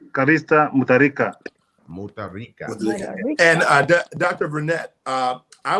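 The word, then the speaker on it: Callista Mutharika: Yeah, the correct name is Her Excellency Callista Mutarika.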